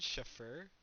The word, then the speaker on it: chauffeur: Chauffeur.